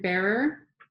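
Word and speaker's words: Bearor: this book by Karen, let me get the pronunciation of her name right, Karen Bearer, Irene Rice Pereira, Her Paintings and Philosophy.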